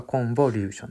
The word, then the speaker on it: コンボリューション: ですね出たら日本語で皆発音するときやっぽーって b 発音しちゃうんですがコンボリューションです日本語だとカタカナ